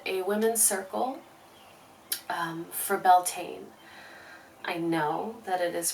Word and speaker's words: Beltane: today I hosted a Women's Circle um for belain I know that it is pronounced Betina um but in the west primarily the United States it has sort of been co-opted and we now say belan predominantly um I hosted This Woman's Circle virtually